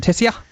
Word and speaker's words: Tessier: That's how you say it, isn't it? Tessier? Yeah.